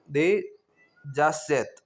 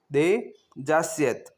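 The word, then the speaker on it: des assiettes: दे जासत दे जासियत यहां पे देखिए डी ई एस के बाद में जो इसकी स्पेलिंग है ए एस एस तो हमेशा अगर यहां वोवेल्स आ रहा हो फर्स्ट में तो वो दे के जो एस है उसके साथ में जुड़ के जो दे आसत हो रहा था वहां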